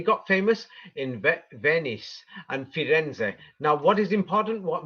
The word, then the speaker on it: Firenze: And if you're in Italy, then you're actually going to pronounce its real name, and its real name is Firenze.